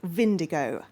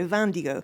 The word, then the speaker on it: Vindigo: I think it's pronounced Vindigo because it wouldn't really make sense to pronounce it the French way, Vandigo, because Vindigo sounds like indigo.